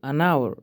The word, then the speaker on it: hour: For example, an hour, the letter H is silent, so we hear a vowel sound.